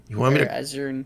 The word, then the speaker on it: Azure: Pronounced like that. Might as well. Azure. Azer.